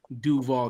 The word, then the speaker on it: Duval: Anyone who is from that part of the state knows that the absolute correct way to say it is Duva.